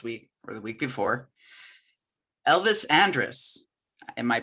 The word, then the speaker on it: Andrus: about this last week or the week before elvis andrus am i pronouncing that correctly it's andrews all right there you go my first clothes